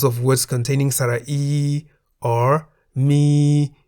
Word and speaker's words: มี: Examples of words containing Sara-E are mi in the middle tone, meaning to have, and mi in the rising tone, meaning the animal bear.